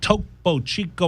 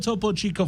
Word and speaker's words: Topo Chico: to you by toppo chico hard seltzer and topo chico margarita hard seltzer um topo chico ranch water heart salsa old topo chico family is here with us today on say it once topo chico just toppo chico topo chico topo it's like oh it's like